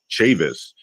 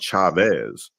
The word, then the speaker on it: Chavis: chavis that's the way i've been known to pronounce it growing up chavis but you also hear chavis and you've also heard people called chavez and people are under the influence that the